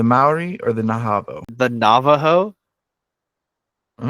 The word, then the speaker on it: Navajo: Kiku Ki the Maui or the Nao the Navajo all right is that the answer is that is that what you think the answer is you said you said naho I can't read yeah I said Navajo wrong